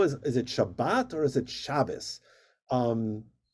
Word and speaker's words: Shabbat: In Ashkenazic Hebrew, it's pronounced aw or o, and that's why sometimes people are confused with, we say Shabbat Shalom, or in Ashkenazic, it's actually Yiddish, where people will say Guten Shabbos.